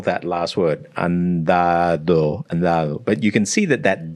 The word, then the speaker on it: andado: And by the time it gets to the last D, it's just gone. If he's looking at the spelling, and a lot of like English speakers, andado, and they'll be pronounced. Yeah, so I would be hitting both those D's exactly the same. I'd be like dado. In this hard D.